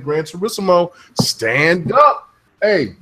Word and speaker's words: Gran Turismo: Gran Turismo.